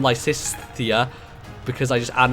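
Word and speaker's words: Lysithea: like s the ongoing inability for me to pronounce the name lisia because I just add an extra s to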